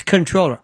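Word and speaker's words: comptroller: It's controller. I don't know why it is. I don't know why they spell it differently. I have no why it's it's it's not only is the M and the P silent, there's an N that's silent.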